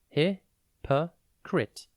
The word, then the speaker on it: hypocrite: a time today's word is hypocrite it is pronounced hio crit and spelled h y p o c r